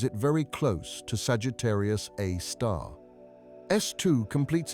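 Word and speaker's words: Sagittarius A*: They named it Sagittarius a star, pronounced Sagittarius, a star after the constellation where it resides.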